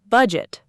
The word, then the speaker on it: budget: The word budget, bud. It two syllables, stress on the first.